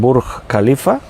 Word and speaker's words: Burj Khalifa: que se llama si no me equivoco la pronunciación burj khalifa se pronuncia así está en dubai y es